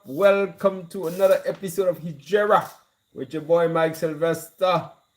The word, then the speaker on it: Hegira: HEGIRA, as you know, HEGIRA, in fact, is the proper pronunciation of the word.